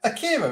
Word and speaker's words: Akira: It's Akira, isn't it?